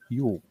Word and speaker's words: Yule: They called it Yule, which is pronounced the same as the word for Christmas in Norway today. Yule.